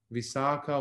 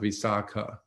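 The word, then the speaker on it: Visākhā: Mansion we're talking about visaka um and uh and by the way when you have the last syllable or letter elongated with the diacritical mark like in this case it's visak versus visak um in Ancient India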